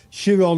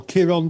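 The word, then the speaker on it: Chiron: mythology and of course shiron or Kiron depending how you pronounce his name was a centure that's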